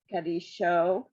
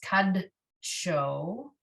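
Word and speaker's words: קָדְשׁוֹ: Kadisho. So there's no, under the Daled, there's really no sound. It's just kad show.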